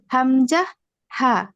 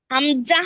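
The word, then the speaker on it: همزة: শুরু হইতে উচ্চারিত য় হামজা হা হামজাহ না কিন্তু হামজা হামজা হামজা দুই নাম্বার মাখরাজম কন্ঠনাল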